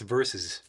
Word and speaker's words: versus: Why do you guys like to say verse? It's verses. Both of you say verse.